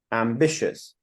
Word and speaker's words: ambitious: the first um Alex ambitious three which one first second or third in this case ambitious ambitious ambitious ambitious where do we put this in the second second very good next